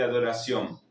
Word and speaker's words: adoração: La C, la cedilla, que se pronuncia como una S. Acá tenemos una tilde que va a indicar que es una palabra que va a sonar nasal. Y esta palabra, para tener una idea de cómo pronunciarla, vamos a añadir una N al final y transformar la O en una U. Va a sonar algo así.